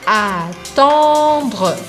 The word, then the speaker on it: attendre: Não é o han, como em português, an, an. É um pouco diferente, porque a gente precisa abrir um espaço maior. Então, attendre.